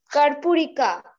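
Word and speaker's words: Karpurika: What is the correct pronunciation of it? Kurpurika.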